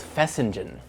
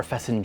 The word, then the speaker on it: fesenjan: the dish itself is called fessing or fessing depending on pronunciation and dialects.